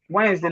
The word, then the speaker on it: Wednesday: No, the D is silent. The D is silent. You can't say Wednesday. Wednesday, not Wednesday. Non-word. Oh, It's not word. when No. it has two days. Wednesday. Yes, you say Wednesday. Yes, Wednesday. You will not pronounce the first D, or you pronounce the second D.